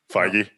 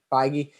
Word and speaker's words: Feige: Feige. Feige.